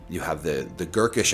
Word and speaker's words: Gurkish: And then you have, the Gurkish Empire, which is, it rhymes with Turkish for a reason.